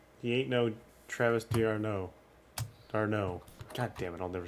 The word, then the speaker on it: d'Arnaud: Darno.